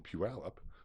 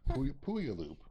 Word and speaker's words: Puyallup: And then there's also the Washington State Toy Show in Puyallup, Puyallup, for people who are from Minnesota.